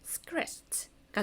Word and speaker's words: scratched: 그러면 ed 앞이 무성음이니까 우리는 t 소리로 써내야 되겠다. 그래서 scratched가 되는 겁니다.